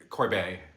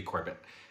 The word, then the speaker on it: Corbet: okay let me go back I met Brady corbette Corbet I wasn't sure I'm not sure he seems he I always thought his name was Brady Corbett and I was so wrong because he pronounces